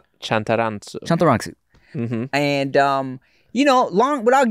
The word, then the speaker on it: Chantarangsu: It's exactly like it's spelled, except for all the A's are O's. So it's Chantarangsu. Chantarangsu.